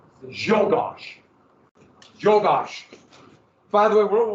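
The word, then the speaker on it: Czolgosz: I'm mispronouncing it a little bit, but I want to pronounce it like Zogos, but it's shocked. Jogosh.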